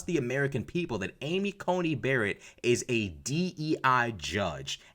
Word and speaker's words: Coney: Cony there we go I was saying it right the whole time Amy Cony not Comey Amy Cony Barrett is